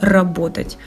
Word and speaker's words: работать: ударении хит из хитов глагол работать все новички с упорством из поколения в поколения произносят с ударением на второй слог она на 1 для русского языка это невероятно сильное слово его недопустимо произносить ударением на каком-либо услуги кроме 2 это далеко не полный